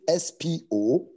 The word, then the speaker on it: spoudazo: It's spelled as S-P-O-U-D-A-Z-O, spoudazo.